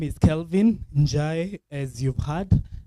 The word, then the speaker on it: Njai: My name is Kelvin Njai, as you've heard. Not Njahi. Unasikia wewe? Njai.